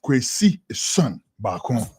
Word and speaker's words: Kwesi Son Bakon: Yes, my name is Kwesi Son Bakon. You hear the name, the way I pronounce my son. That's the same way I want you to pronounce it, because that's how my